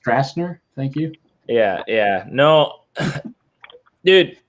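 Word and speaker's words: Stracener: Josh Strackner. Strackner. Yeah. I believe it's pronounced Strassner.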